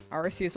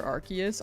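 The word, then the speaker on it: Arceus: Arus over Archus. I I still say Arus.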